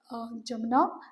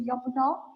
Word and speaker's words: Yamuna: I think Delhi is situated on the river Jamuna. So we will say Yamuna, right?